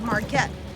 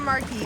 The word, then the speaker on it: Marquette: And we also learned in our little stop with the tow and the barge uh grill that the name of that town is Marquette, not Marquee.